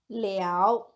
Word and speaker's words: 了: The Chinese word here is pronounced as liao.